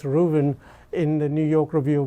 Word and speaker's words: Ruthven: article by malice rooven it's written ruthven but it's actually pronounced ruben in the new york